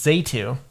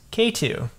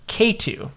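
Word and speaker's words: Xatu: life but also the entire last generation is zetu uhuh it's the evolution of natu I found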